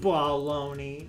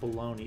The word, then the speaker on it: baloney: Baloney. You have to say it the right way. It's not baloney. It's baloney. You gotta say it like how Squidward does in that one episode when he gets his fucking meat all over his face.